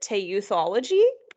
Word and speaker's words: teuthology: I would pronounce it teuthology.